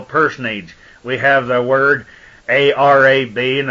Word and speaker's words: arab: We have the word A-R-A-B, and it's pronounced Arab, a prime root meaning to lurk and lie in ambush, or ambushment, lay, wait, or lie in wait.